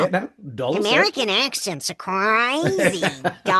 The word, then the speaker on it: Dulles: I should say, by the way, Chris, it's pronounced Dallas.